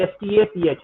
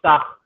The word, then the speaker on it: Stach: It's actually Stach. Anton Starch or Stach as it is pronounced.